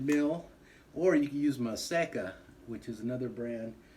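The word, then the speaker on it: Maseca: the the red mill or you could use my seca which is another brand it's spelled m a z e c a maseka and it's like a corn flour or you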